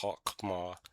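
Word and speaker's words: חכמה: Don't worry about the use of the feminine, her, and she, which are Hebrew language markers for the word wisdom, which is pronounced Chokmah in Hebrew.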